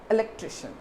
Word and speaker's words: electrician: we just call the electrician we call that electrician so you have to stress on the syllable tri so remember this and